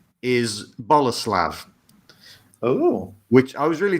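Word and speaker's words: Bolesław: His middle name is Boleslav. Oh. Which I was really disappointed when I found out because it's spelt Bolslaw. I thought, Bolslaw, that's a brilliant middle name. It's pronounced Boleslav.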